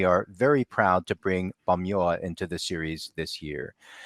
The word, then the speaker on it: Pamyua: The name of our group is Bamyoa. And the P is a little deceiving, but it's pronounced more like a B in our language, Bamyoa. Mm-hmm. So yeah, excellent. you said it. Bamyoa.